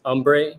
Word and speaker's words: Urnbre: It's Umbre, but it's spelled URNBRE. You can look at the name. You can see that the R and E make an M.